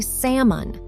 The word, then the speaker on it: salmon: Just like an almond, that L is completely silent. We say salmon. For example, I love grilled salmon for dinner.